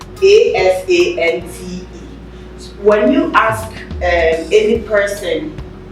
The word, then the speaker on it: Asante: is that is right so the ashanti is is a mispronunciation by the english by the british of assante a-s-a-n-t-e when you ask any